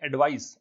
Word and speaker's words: advice: अगर इसमें एडवाइस की स्पेलिंग ये होती ADVISE तो ये होती वर्ब, इसको पढ़ते एडवाइज। और ये जो ADVICE है इसको हम पढ़ते हैं एडवाइस, और ये क्या है, नाउन है।